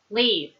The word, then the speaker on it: leave: Leave. Leave. It's a silent E there.